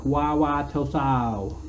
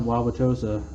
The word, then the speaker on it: Wauwatosa: And he's like, Wauwatosa. I'm like, no, Wauwatosa. And I'm like, pronounce that name.